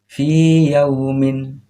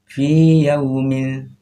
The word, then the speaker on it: fi yaumin: Cara membacanya fi yaumin, fi yaumin, fi yaumin, bukan fiya, bukan ditasdidkan tapi dipanjangkan di sini.